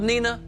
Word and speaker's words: Nina: Spelled Nina, pronounced Nina.